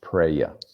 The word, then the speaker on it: praia: The word for beach, I believe, is pronounced praia.